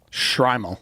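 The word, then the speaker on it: Shtreimel: Shrimal. Shrimal. Yeah. Uh the Shrimal was adopted by Eastern European Jewish communities in the 18th century and coincided with the rise of acidic Judaism. Technically, a Shrimal is one particular style of hat.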